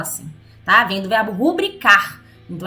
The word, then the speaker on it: rubrica: Eu, sinceramente, não entendo até hoje porque as pessoas falam rúbrica se é rubrica. A sílaba tônica, a sílaba forte, é o bri, nunca foi o ru. Então seria rubrica e não rúbrica.